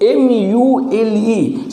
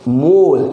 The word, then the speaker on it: mule: The mule, M-U-L-E. Suppose M-E, you should not say mole. It is mule. According to the pronunciation of English accent, it is called mule.